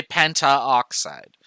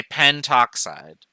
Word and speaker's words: pentoxide: example ao and oo we get rid of the prefix first letter to make it sound better so we don't ever say penta oxide we say pentoxide just so that there's one fewer syllable same thing from carbon